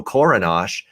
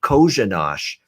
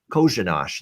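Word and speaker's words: Kořenář: It's actually Kozhanash. The first R in his name is an SH sound as well. So the official pronunciation is Josef Kozhanash. Kozhanash.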